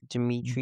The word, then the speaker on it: Dmitri: Dimmitri uh I don't even know how to say this name. Dmitri Belle Belikov.